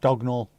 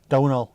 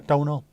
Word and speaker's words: Domhnall: How's that one MH pronounced? G or something, isn't it? Dognall. Or Z. MH is Z in that one. Dosnall. Donall. Yeah, Donall. How?